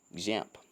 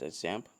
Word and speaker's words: XAMPP: there's a better way example though technically it's my number pronoun jam it's actually x-a-m-p-p but i like to pronounce it example examp actually is a